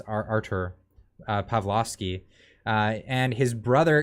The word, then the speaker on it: Artur: for pastor pastor artur i i never pronounced that right i always think it's arthur but it's artur pavlovsky uh and his